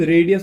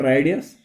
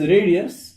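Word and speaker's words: radius: ये चीज भी याद रखना बेटा, इसकी प्रोनाउंसिएशन जो है, pronunciation of this word is रेडियस, नॉट रेडियस, इट इज रेडियस.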